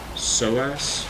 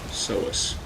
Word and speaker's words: psoas: Psoas? Psoas? I'm guessing the P is silent.